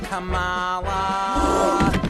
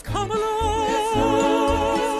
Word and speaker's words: Kamala: And don't you dare pronounce her name Kamala. It's Kamala.